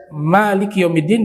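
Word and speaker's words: مالك يوم الدين: mazhab qiroahnya ketika membaca Maliki yaumiddin dibaca panjang huruf Adapun sisanya yang 5 ya Imam Ibnu Amir Abu Amir Imam Hamzah nah mereka bacanya tidak memanjangkan huruf mim jadi yang menarik di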